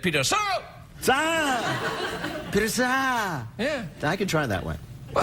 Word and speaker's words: Sagal: It's spelled S-A-G-A-L. It's spelled like Katie Sagal. Very much like Katie Sagal.